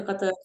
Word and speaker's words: Qatar: because everyone's like oh is that how you pronounce Qatar yeah you know I didn't know that and